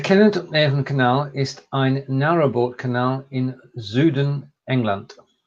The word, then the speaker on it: Südengland: Der Kennet-und-Avon-Kanal ist ein Narrowboat-Kanal in Südengland. Pronunciation. Well, just the last word. Do you want to try that one again? I said Südengland.